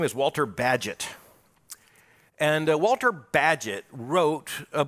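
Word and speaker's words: Bagehot: Great Britain and Walter badgett and by the way you you won't get his name by thinking about it it's b-a-g-e-h-o-t it takes the English to pronounce that badget Walter badgett and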